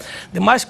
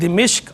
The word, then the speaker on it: دمشق: ڈیمسکس کہتے ہیں، اور اس کا جو درست ضبط ہے، درست تلفظ ہے، وہ دو طرح ہے، ایک دمشق اور ایک دمشق، یعنی دال کے نیچے زیر ہے، میم کے نیچے زیر بھی پڑی جاتی ہے اور میم پہ زبر بھی پڑی جاتی ہے۔ میم